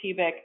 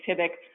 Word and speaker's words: TIBC: spent a bit differently I say pivec I think Tyler you say typic either is totally five different ways of pronouncing it so I'll go ahead